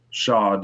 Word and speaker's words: shod: And you said you shoed horses? Shod, yep. Shod horses? That's how you say it? That's the industry term?